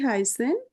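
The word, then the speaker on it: heißen: বি হাইনজি ভি হাইন এটা এস এর মত উচ্চারণ বি হাইসেন জি আপনার নাম কি ইশাই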